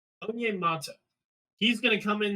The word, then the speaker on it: Onyemata: We pick up David Onyemata.